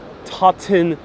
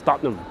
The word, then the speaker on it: Tottenham: So I would pronounce this as an American, Tottenham. But no, it's Tottenham. They just erased half of the word there.